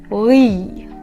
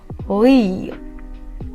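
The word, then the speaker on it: 의: syllable of a word sounds like this: “ui” “ui” It’s like I want to say “we” and “i” together A sound close to “ooyi” but we don’t have “oo” I’m telling this that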